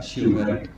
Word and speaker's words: Shivhare: Myself, Dr. Shivhari. Actually, it's my father's fault that he has not given me the Hindi meaning. Actually, SHIVHARE is real pronunciation, but because my father was in Air Force, he has copied Kapil Dev, because Kapil Dev is written as DEO and DEB also.